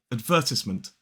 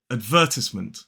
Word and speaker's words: advertisement: a schwa, so it's advertisement. Whereas in American English, it's more like ad. Then in the second syllable, in a modern British RP accent, we do not pronounce that R. So it's advertisement.